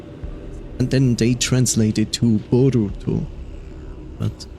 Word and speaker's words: Boruto: Did you know that Naruto's son, which now everybody pronounces as Boruto, would actually be pronounced as Bolto, which means bold.